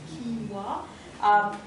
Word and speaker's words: quinoa: eat oats, quinoa, well, it's spelled canola. It's actually, I had to find out. It's spelled like this. Quinoa. I had to do a talk once, I thought, oh God, I'll be so embarrassed if I get it wrong, but quinoa. You've got barley, rye, and buckwheat.